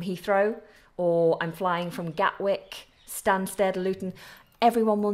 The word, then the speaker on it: Gatwick: Gatwick London Gatwick now I don't pronounce the T and I don't think many natives do pronounce the T so London Gatwick is the the best way to pronounce this Airport London Gatwick so we have Heathrow